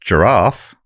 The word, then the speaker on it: Jarrath: Writing, Rachel Jarrath, pronounced giraffe, Rachel Giraffe, has Rachel Giraffe.